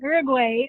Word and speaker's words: Uruguay: learned I was pronouncing Uruguay wrong, so Yeah. now I pronounce it Uruguay.